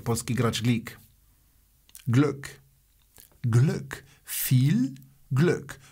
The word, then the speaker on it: viel: Viel Glück. Viel, wiadomo, się E nie wymawia, jest po prostu długie I.